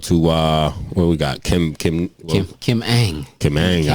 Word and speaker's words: Ng: Kim Ang. Kim Ang. All right. Kim Ang. That's how you say her Kim name. Her last name is a little weird because it's just NG. But Kim Ang.